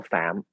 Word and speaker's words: Pham: with uh with mintau pham was his name uh and then the correct the correct uh pronunciation in vietnamese is mental fam and uh and yeah